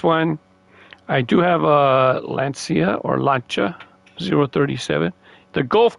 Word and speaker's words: Lancia: And then I'll show you the Gulf colored Lancia that I have. I say Lancia because that's how they pronounce it in Italy, Italian.